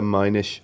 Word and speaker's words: Minish: Because it's Yeah. spelled the same way as Finnish.